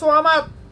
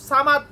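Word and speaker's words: صمد: কারণ সামাদ আর সোয়ামাদ, আমরা সূরা ইখলাস পাঠ করি, বেশিরভাগ মানুষ পাঠ করে সামাদ, কুল হু আল্লাহু আহাদ আল্লাহু সামাদ, বেশিরভাগ মানুষ এটা উচ্চারণ করে সামাদ।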